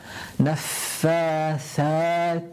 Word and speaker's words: نَفَّاثَاتِ: Tha. Again, tip of the tongue touching the central incisor. Tha. نَفَّاثَاتِ فِي الْعُقَدِ.